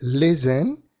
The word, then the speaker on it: listen: Fíjate que listen tiene el estrés, la fuerza, en la primera sílaba, mientras que prefer la tiene en la segunda.